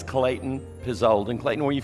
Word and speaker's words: Klayten Pezold: None of it is spelled like it ought to be, but it's Klayten Pezold.